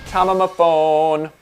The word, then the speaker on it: TOMAMAFONE: And hey, if you want to race me online, my PSN is TOMAMAFONE and is pronounced Tomamaphone.